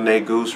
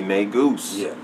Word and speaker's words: Negus: Facebook yeah yeah tell them about the real nay Goose reviews make sure you pronounce it right don't pronounce it wrong I